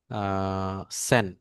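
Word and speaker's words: zehn: বানান ভুল হইতে পারে সেন এ বানানটা আমি আগে ভুল বলতাম পরে ওইদিন ক্লাস করতে করতে রিপন ভাই খুব বেশি এলার্ট ছিল যে ভাই এটা তো জেন না এটা তো সেন হবে ভাবি ভাইটা কি ঠিক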